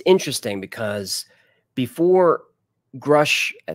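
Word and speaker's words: Grusch: it's interesting because before grush like that's how you say his name before David Rush blew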